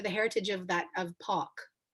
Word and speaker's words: Palk: your last name wrong i have to rhyme it with walk right like walk so where's that name what's the the genesis or the heritage of that of park it's british yeah both